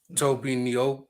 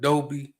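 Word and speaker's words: Tobe Nwigwe: Toby Niobe, not Dobie.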